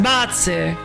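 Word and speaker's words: Butz: the original fan translation, which was Buts because it's pronounced Bats and um Bats, which sounds a lot like Bats.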